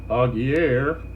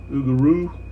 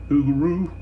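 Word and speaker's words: Augereau: of these yeah I just realized I've been pronouncing aier and it's actually uh Ugo something like something like that oaro the uh core Commander for the seventh general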